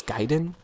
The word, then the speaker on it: Gaiden: ninja G yourself and I don't want to say gayen because I don't think that's actually how it's pronounced it's gaen but I don't know uh